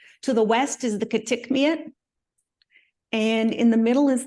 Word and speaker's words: Kitikmeot: To the west is the Kitikmeot, and in the middle is the Kavalik.